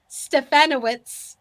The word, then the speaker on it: Stefanowicz: Stefanowicz.